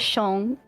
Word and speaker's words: Xiong: Fang, we have Tao, and we have Xiong. I never know if I'm pronouncing that one right. I've always heard it as Shong.